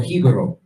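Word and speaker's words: Jíbaro: there's certain things like, for example, Hibaro, or Hibaro is the real pronunciation of it. That's what they called the Tainos who fled into the mountains in order to hide from the Spanish. Hibaro, if you go and you remove the J, you understand, which didn't even exist, it's Ibero.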